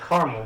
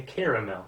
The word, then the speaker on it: caramel: caramel but then there's some people who maybe they weren't raised right and they say caramel and then it's like oh how is it i have to look at how it's spelled now it's like c-a-r-a-m-e-l so what so where does that extra ah come from is that what your